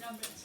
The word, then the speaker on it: numb: And what word has a silent letter in it? Numb.